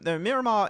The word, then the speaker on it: Miramar: Miramar. No, Miramar is said Miramar. That's the actual pronunciation. That's how you have to say it.